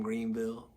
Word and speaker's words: Greenville: All right, a little lesson for Greenville, for people that aren't from Greenville.